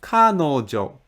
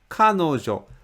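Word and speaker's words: 彼女: How Japanese people speak when I say Kanojo it is not difficult to point out where the stress is located I say Kanojo Kanojo the first muraka is obviously higher than the rest of the mura which means this word has stress in the very beginning of the word car canojo knowing how Japanese Peach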